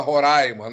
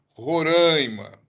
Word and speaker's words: Roraima: de carga em Roraima muita gente fala Roraima na a sílaba tônica é o hum Roraima na tá 65 localidades são